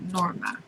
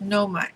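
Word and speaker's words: Moema: the name of noma some people pronounce it norma but this fella says noma m-o-e-m-a took her two children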